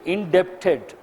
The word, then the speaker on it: indebted: Generally we say indebted, but B is silent.